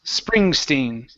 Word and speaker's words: Springsteen: is Bruce Springstein Bruce Springstein okay ver springin okay so let's try the spr here so instead of spring Springstein push the tongue down okay so it's spur